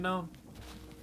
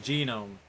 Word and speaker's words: gnome: See that little skeleton behind that one gnome? You know, they actually prefer you pronounce the G. Gnome. Yeah. Well, depending on how young they are, some of them are called genome.